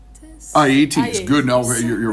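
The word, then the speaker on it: Aeëtes: I'm sorry if I pronounce this wrong. Aeetes.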